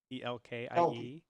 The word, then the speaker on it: Elke: Elke says, just to clarify on how to pronounce my name, it's pronounced Elke, Elkie. It's spelled Elke.